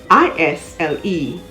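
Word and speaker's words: aisle: d-e-b-r-i-s island i-s-l-a-n-d il i-s-l-e you would note that we have a pair of homonyms a-i-s-l-e and i-s-l-e they are both pronounced isle another silent s word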